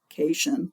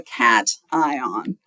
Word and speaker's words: cation: I know it looks like cation, like a vacation or something, but it's a cation.